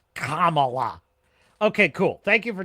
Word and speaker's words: Kamala: with some help from some friends it's not camela it's not Cala who is it that uses